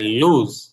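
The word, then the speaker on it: lose: লাভ করা লস মানে হারা লস না লুজ লুস হারা এল ও এ্যার এটা কি বর্গীয় জ উচ্চারণ হবে বর্গীয় জ না আপনার আরেকটা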